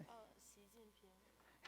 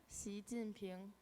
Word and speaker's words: Xi Jinping: Xi Jinping. Hang on. Yeah. Say it with a full accent. Xi Jinping.